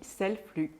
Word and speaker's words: Selflux: en aparté qu'on dit Selflux. Oui, voilà, ouais, parce qu'on parle des flux, les flux de production, donc je ne prononce pas le X à la fin.